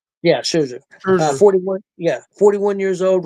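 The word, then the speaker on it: Scherzer: Yeah, Sherzer.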